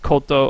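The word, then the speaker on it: こと: kowtows I don't have it in here that's pronounced koto oh it's not a kanji so Colt Oh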